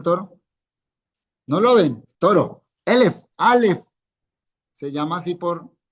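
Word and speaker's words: אֶלֶף: Los segolados, los que tienen van a llevar el acento aquí. Entonces, elef. Muy bien. Recuerden, esos que llevan el acento en la primera sílaba.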